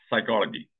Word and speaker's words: psychology: we'll start from there psychology why there is a p and why is it silent is it not nonsense